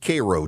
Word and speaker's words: Cairo: There's also a Cairo, Georgia, but it's pronounced Caro, Georgia, and on and on it goes.